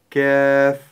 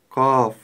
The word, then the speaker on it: ك: кф мягкая глухая буква послушайте как я её произношу и постарайтесь повторить за мной ф кф кф не следует произносить букву кф твёрдо каф иначе это будет совсем другая буква также не стоит